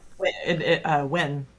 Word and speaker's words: Nguyen: I think it is Nguyen. When it's like when.